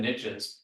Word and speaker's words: niche: riches are in the niches you pronounce it Niche so the riches are in the niches um the more you